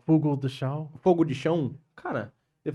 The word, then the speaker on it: Fogo de Chão: The culture, the history, the food is unique because in America we got Brazilian barbecue, fogueiro de chão.